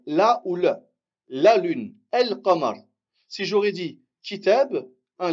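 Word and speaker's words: القمر: Il faut savoir que la lune, en arabe, ça se dit el-qamar. El-qamar. La lune. On prononce le lem, on dit el-qamar.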